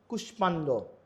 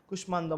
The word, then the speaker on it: কুষ্মাণ্ড: ফলাযুক্ত কিছু সংস্কৃত শব্দ আছে এগুলোতে ম এর উচ্চারণ, যেমন কুষ্মাণ্ড, সুস্মিতা, কাশ্মীর।